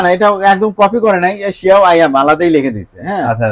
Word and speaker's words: Xiaomi: আর এখানে আছে শিয়াও আয়াম। আচ্ছা ভাই, আমি তো Xiaomi, হ্যাঁ এটা অনেকে উচ্চারণ করতে এটা মনে করে যে Xiaomi মনে হয়, এটা কিন্তু Xiaomi না, শিয়াও আয়াম টিভি বক্স।